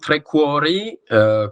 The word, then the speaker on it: TreCuori: une politique environnementale et donc trqu com on le prononce à l'italienne et son activité principale